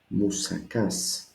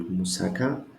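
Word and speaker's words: μουσακάς: The Greek moussaka. Moussakas with an S at the end. 3 syllables again. Moussakas. No, it's not moussaka, not moussaka, it is moussakas. The accent is at the last alpha, so I cannot be confused.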